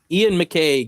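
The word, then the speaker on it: Iain McCaig: Ian McCaig, yes.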